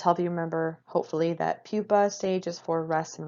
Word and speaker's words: pupa: Again, this is not pronounced pupae, but I did give you the Latin spelling there. It's pronounced pupa, okay?